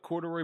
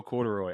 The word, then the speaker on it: Corduroy: So it's super simple with 3 syllables. It's cord, the letter U, and Roy.